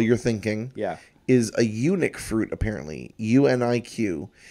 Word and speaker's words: UNIQ: Now, I thought it would have been pronounced unique. Mm-hmm. Like someone saying, oh, it's ugly. Yeah, it's one of a but kind. But it's also unique. But I was corrected by a table full of vegans, so I believe them. Because fruit is kind of their thing. Their domain. They've studied it. They're the scholars. Yes. So they said eunuch, which is also funny